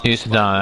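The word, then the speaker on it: Uceta: Usada, that's how you say his name, I forgot.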